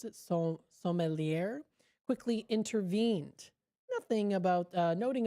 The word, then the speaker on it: sommelier: Now, of course, the sommelier, I guess you would pronounce it, sommelier, quickly intervened.